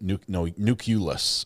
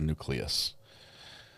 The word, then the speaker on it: nucleus: Nuculus is what he said instead of nucleus. He added the u in the middle.